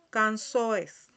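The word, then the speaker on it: canções: Cansoes, cansoes, es que la pronunciamos como si tuviera una S ahí, significa canciones.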